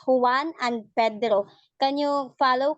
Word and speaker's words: Juan: um also in Reading Juwan is actually who won because in the Philippines the letter J is pronounced as letter H so it's Juan and Pedro can you follow Kano Juan and Pedro yeah yes